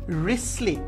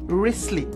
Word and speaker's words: Wriothesley: আমরা উচ্চারণ করব WRI, মানে ও এর উচ্চারণ নেই, টি এর উচ্চারণ নেই, এইচ এর উচ্চারণ নেই, ই এর উচ্চারণ নেই। তো এটার উচ্চারণটা হচ্ছে রিসলি, WRISLEY, রিসলি।